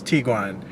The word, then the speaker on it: Tiguan: So the actual way you are supposed to pronounce that, if you're going to pronounce that, the German way is to pronounce it as the Tiguan. It's not the Tiguan or Tiguan or Tiguan or anything like that. The proper way to pronounce it, the German way, is Tiguan.